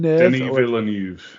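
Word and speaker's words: Denis Villeneuve: Um so directed by D well this is pronounced several different ways. So Dennis Vill Denny Villan there we go that way.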